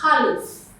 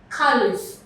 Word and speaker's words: caliph: Now the first word is caliph. Caliph. The PH that is underlined is pronounced f. Okay? It's pronounced f there.